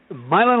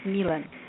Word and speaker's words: Millen: You pronounce my name as Millen. Oh, Millen.